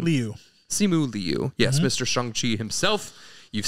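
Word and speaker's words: Simu Liu: how do you say his last name Leu simu Leu yes Mr shangi himself you've seen him in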